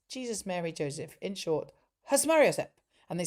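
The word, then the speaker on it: Susmaryosep: In short, Hasmariosep. And they said you have to say it very fast and you have to pronounce the yo is the big one.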